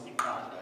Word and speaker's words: iqanda: Now, to pronounce iqanda, you'd have to be able to articulate yourself by actually working the middle part of your tongue so that it hits the upper palate of your mouth.